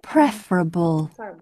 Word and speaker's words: preferable: never rhymes with nation say prefer but preferable comfortable and vegetable bee must not be